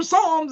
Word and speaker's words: Psalms: somebody show me where Psalms is I finally went the Bible study and they're like it's right here and I'm like that's not an S that's a p that's a p a silent P I'm like I didn't